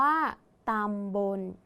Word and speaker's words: ตำบล: อีก ครั้ง นะ คะ ตำบล อ่าน ว่า ต่ำ บน ต่อ ไป ค่ะ ไป